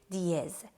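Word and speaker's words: dièse: Sharp, we call it diez. It is spelled like D-E-I-E-Z. Diez or diez.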